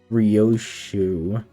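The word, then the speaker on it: Ryōshū: Rioshu that's how you say it.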